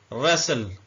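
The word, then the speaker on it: wrestle: wrench इस्तेमाल होता है रेसल य भी साइलेंट है और डब्लू साइलेंट रेसल का मतलब होता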